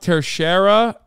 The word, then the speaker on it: Teixeira: he got vac banned IRL yeah true it's pronounced tercera not that it matters sorry some people leak